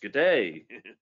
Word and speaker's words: GDA: I think they pronounce it, well, yeah, you think GDA 2020, and then you realize, oh, it's G'day.